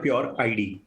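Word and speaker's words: PureID: Company का नाम है प्योर आईडी, यानी कि प्योर आइडेंटिटी।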